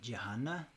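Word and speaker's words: jhāna: In Pali, this is pronounced jhana.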